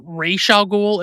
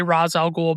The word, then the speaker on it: Ra's al Ghul: correct pronunciation because although based on its spelling, it should be Ra's al Ghul, it's often pronounced Raish al Ghul, especially in the animated series, but I'm going to say Ra's al Ghul because makes a lot more sense to say.